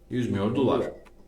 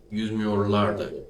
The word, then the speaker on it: yüzmüyorlardı: The right way to say it, yüzmüyordular. The plural is in the end. Pardon. Yüzmüyorlardı is the right way.